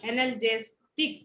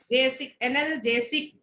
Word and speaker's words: analgesic: हाँ AN सब लोग लिखो स्पेलिंग ANALGESIC एनाल्जेस्टिक। एनाल्जेसिक देखो ANALGESIC एनाल्जेसिक।